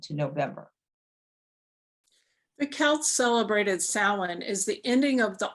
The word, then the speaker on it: Samhain: fire festival from which it gets its name pronounced salon believed by some to mean summer's end in